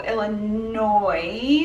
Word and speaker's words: Illinois: our commenters said specifically Illinois is pronounced without the SS I'm sorry for some